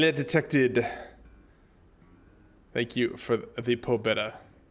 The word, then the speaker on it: Pobeda: Thank you for the pobeda. Pobieda. Actually, I think is how it's better pronounced.